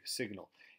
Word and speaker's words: signal: Sig, sig, signal. If you take out the AL, it's sign. If you add the AL, then we pronounce the G and we get signal.